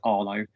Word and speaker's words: Harlow: Somerville, back down in Harlow in Essex, or as we used to pronounce it those days, Arlo.